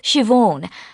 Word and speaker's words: Siobhan: park the person running their stool today is Siobhan I'll spell that for you it's an old Irish name